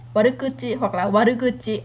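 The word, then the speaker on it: 悪口: bởi vì nó là cái cách đọc cổ mà, ví dụ là trong văn cổ chẳng hạn, thì cái phương án chính xác bây giờ người ta dùng chủ yếu với cái từ này warukuchi hoặc là warukuchi.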